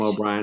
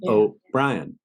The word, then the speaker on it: O'Brien: Ryan everybody calls him O'Brien I call him oh Brian so I kept looking